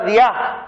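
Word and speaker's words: διά: Por amor es la palabra diá, como día, pero con acento en la A, diá.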